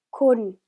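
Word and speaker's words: คุณ: 네, 콘 하고 발음하고요. 자, 발음을 주의해 주셔야 되는데 콘이 아니라 길게 콘이라고 발음을 하면 곱하다라는 뜻이 되기 때문에 짧게 콘 하고 발음해 주셔야 해요.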